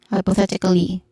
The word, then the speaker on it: hypothetically: T has a short e sound, and then cli, hypothetically, hypothetica. Oh, yeah, hypothetica. Ka has a short a sound, and then li has a long e sound.